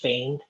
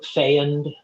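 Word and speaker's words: Feond: d and it it one way to say it is Fain like rhymes with rain oh really yeah yeah or fand um but most people say fond yeah um like rhymes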